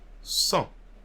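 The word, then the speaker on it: cent: first one will be 100 so in french sun can you repeat after me sun so you see here i'm not pronouncing the d one more time sun 103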